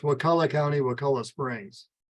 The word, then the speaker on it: Wakulla: The pronunciation is Wakulla. The people downstate often say that word wrong because of Wachula, is it? But anyway, it's Wakulla County, Wakulla Springs. Not Wakula, which is what people downstate often say.